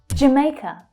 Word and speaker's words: Jamaica: So that's the A as in day vowel sound.